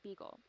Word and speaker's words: Beagle: The ship Darwin sailed on was the HMS Beagle, as in rhymes with Eagle.